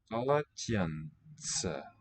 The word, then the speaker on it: полотенце: Полотенце. This is a ts letter, as in pizza, next to last one.